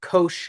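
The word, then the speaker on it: cosh: cosine function which is pronounced Kos of X like kosher yeah and it's defined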